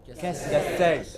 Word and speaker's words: cassette: Cassette. Oh, it is cassette. The first syllable is hardly heard. It is not ka, it is just ka. What is it? Just ka. So this is cassette.